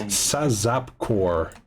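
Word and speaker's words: SAZAPCOR: that in chat uh it is saap cor which is spelled Sierra Alpha Zulu Alpha Papa Charlie Oscar Romeo so like zaz like pizaz cor um so um you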